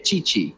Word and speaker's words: Tite: ¿Cómo se pronuncia el técnico de Brasil? DT de la... Chichi.